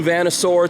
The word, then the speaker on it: Vanasaur: is out this is campfire by moonlight new vanasaur t-shirt that's how you pronounce that if you're a fan of class